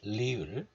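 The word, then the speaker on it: 리을: This one is pronounced like the sound between R and L. Sometimes it's pronounced the same as this L, like lady, but other times it's a little bit different.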